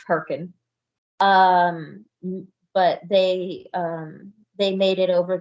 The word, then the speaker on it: Hurricane: It's spelled like hurricane, but it's pronounced Herkin.